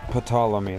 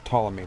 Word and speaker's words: Ptolemy: Those of you who don't know, like I did, that's not Ptolemy. That name that it popped up was Ptolemy. The P is silent.